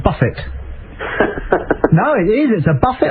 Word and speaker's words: Buffett: on this just like it's not a buffet it's a Buffett no it is a